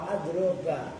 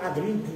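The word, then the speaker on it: أضرب: Ya ka'aklama wa adroba, seperti aklama ya lebih mengetahui, adroba ya lebih memukul. Kalau tadi bacanya adribu lagi, memukul siapa saya, salah itu mengorek.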